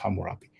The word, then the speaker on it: Hammurabi: laws of hamurapi now this is in the different spelling of Hammurabi according to the community from writing it's actually pronounced hamurapi but you know but